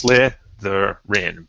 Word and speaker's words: Slytherin: So if a word's like Slytherin, that'll tell you it's 101 because it's Slytherin.